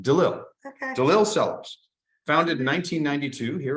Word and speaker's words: DeLille: and the eve yeah I say its name if there was one L it's in between I see it here